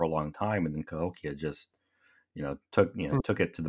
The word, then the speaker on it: Cahokia: Cahokia.